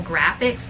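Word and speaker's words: Graphx: one are from Primal Graphics. I think it's like that. Yeah, Primal and then Graphics, but Graphics is spelled G-R-A-P-H-X.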